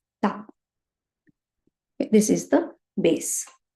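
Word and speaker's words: た: So only thing, the pronunciation should be with the T. Tsunami. Right? So ta, chi, tsu, te, to.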